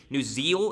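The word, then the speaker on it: Neuzil: Ryan Nuziel, is how you say his name, the App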